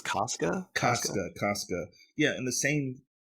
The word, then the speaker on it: Casca: How do you pronounce her name? Cassia? I think it's Casca.